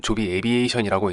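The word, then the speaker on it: Joby Aviation: 이름이 낯설지 않으신가요? 조비는 조비 에비에이션이라고 읽는데요. 쉽게 말하면 하늘을 나는 택시,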